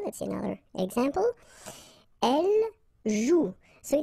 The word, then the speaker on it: joue: combination of the vowel O and U, and together, you know that they produce the sound OU, okay? And it's exactly the same rule, so you've got this after, but then clearly you don't pronounce it. Okay, elle joue.